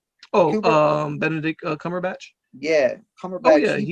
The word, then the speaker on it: Benedict Cumberbatch: Benedict Cumberbatch.